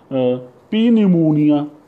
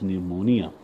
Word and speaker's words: pneumonia: You would say P pneumonia, but P is silent. It is pneumonia.